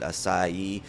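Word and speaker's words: açaí: Uh, that you're supposed to pronounce it asai a c ai.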